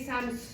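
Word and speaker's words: Samsøe: la marque parce que ça s'écrit S a M comme maman. S O E puis c'est comme Sams faut dire Sams comme UH à fin et c'est un pantalon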